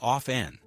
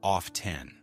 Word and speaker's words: often: t in American English it's very common to not pronounce the t. So it sounds like off n but you might hear some people pronounce it as off 10.